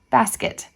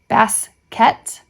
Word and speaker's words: basket: little trouble lesson 38 be careful about the word basket it is generally mispronounced baset or baset lesson 39 in the